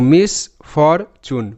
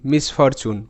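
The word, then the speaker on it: misfortune: ভালো করে বুঝতে হবে টি ইউ এন ই এটা একটা প্যাটার্ন এটার উচ্চারণটা চুন হয় ঠিক আছে তাই এটাকে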